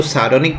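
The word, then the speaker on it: sardonic: इसमें आर का उच्चारण नहीं करना है, इसको सार्डोनिक बोलेंगे।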